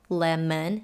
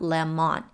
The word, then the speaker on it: lemon: as a fruit lemon where the o is pronounced as schwa lemon not lemon and she's yelling what